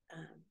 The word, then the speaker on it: Om: sound vibration is pronounced um like home so it's home with a Midwestern accent so when you pronounce